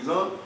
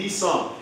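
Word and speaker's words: Nisan: Alors, nous-mêmes, quand on parle français, nous disons Nizan, parce que d'ailleurs, on connaît, lorsqu'il est trouvé dans le traité, il se prononce comme Z. Mais assez souvent, on dit Nissan.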